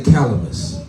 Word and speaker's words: calamus: up what sweet C say everybody say calamus calam rhymes with cannabis but not so much